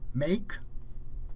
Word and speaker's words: make: Make, the E is silent.